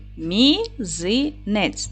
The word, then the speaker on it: мізинець: зошит Отже Давайте перевіримо поділимо слово на склади мізинець наголос падає на другий склад м - це М'який